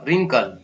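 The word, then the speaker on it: wrinkle: फिर उसके बाद में RI, री, एन का आधा न या फिर की आवाज क, ल, रिंकल।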